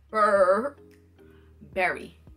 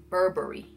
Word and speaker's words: Burberry: is not pronounce Burberry it is not fur Barry is Burberry okay okay BRR BRR free so it was like her it's cold in here it must be some club is an atmosphere her three Burberry not her Barry is not a cold